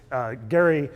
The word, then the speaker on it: Gerry: Elbridge Gerry of Massachusetts famous for I now pronounce a gerrymandering but we know it as gerrymandering gary was famous for drawing electoral districts that sloped